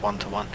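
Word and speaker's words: One:1: It's 94 and today we're in the Kernigseg one to one is I think how you pronounce it cuz it's got the one one side. I think it's pronounced one one but this car is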